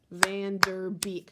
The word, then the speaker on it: Van Der Beek: in my last name I would just clap with the beat of my name van der beek so I have three syllables in my last name so when we're doing